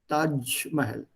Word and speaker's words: Taj Mahal: What is the original pronunciation? Taj Mahal. वो j है नहीं उनके पास. The closest they can get to j is ch, Taj.